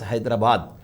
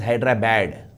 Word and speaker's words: Hyderabad: how do you pronounce Hyderabad a Telangana will pronounce Hyderabad as Hyderabad because it is Hyderabad but in Andra they call it as hyra bad hyra bad what is this it is not